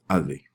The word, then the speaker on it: avait: Even though there's a whole bunch of letters here, don't worry about them. It's still pronounced avait.